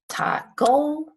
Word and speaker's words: taco: Do we say taco or taco? We say taco. So the stress is on the A, and when the stress